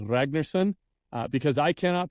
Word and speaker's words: Ragnar: the proper pronunciation is Ragnar it's beautiful I cannot roll an R like that so we just won't